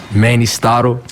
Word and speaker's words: Mannystotle: Mannystotle. Oh, shit, I did pronounce it wrong.